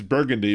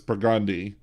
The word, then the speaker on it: Burgundy: Well, there's also the one that it's Burgundy, but it's Burgundy. Mm-hmm.